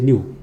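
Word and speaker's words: ν: तो frequency mu लेंगे. Okay, nu, it is nu, sorry, the pronunciation is nu, okay, nu, और a mu है, this is mu, this is nu lambda.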